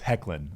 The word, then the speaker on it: Hoechlin: It's Hoechlin, like Hecklin.